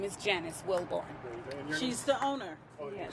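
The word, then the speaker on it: Wilbourn: Spelled like it sounds, Wilborn? Yes, Wilborn, W-I-L-B-O-U-R-N. Okay, and Janice. And my name is Janice Wilborn.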